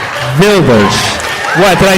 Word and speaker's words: Wilders: Gilder? Wilders. What's the first name? Geert? Wilders.